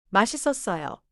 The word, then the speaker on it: 맛있었어요: 맛있었어요.